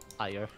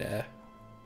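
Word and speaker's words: Ayr: Sorry. That's air, like the thing that you breathe. Air. Air. Air, lassie. I've been to air. I saw a nice Scottish bagpipe band playing in air.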